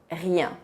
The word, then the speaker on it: rien: Para a palavra rien, rien, o som ien é um som bem nasal.